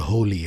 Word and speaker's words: Holi: Once a year in India, we celebrate a festival called Holi, Holi. We don't spell it like how you guys spell Holy, but we say Right. Holi.